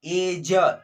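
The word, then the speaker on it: edge: उसी प्रकार देखिए यहाँ पर क्या लिखा है, एज, एज बोलेंगे, ठीक है, एड्ज नहीं बोलेंगे, ठीक है, ड को नहीं बोलेंगे, डी को नहीं बोलेंगे, डी को पढ़ना ही नहीं है, क्योंकि डी साइलेंट है।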